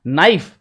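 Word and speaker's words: knife: तो साइलेंट जैसे कि के एन आई एफ ई so that is नाइफ चाकू लेकिन के का उच्चारण नहीं करेंगे क्योंकि इसका साइलेंट रहता है इसके अंदर ये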